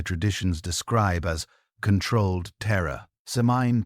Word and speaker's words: Samhain: Seine, pronounced sane, marked the transition from the light half of the year to the dark half.